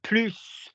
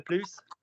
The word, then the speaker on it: plus: Do you see how the pronunciation of the plus and the plus makes the difference?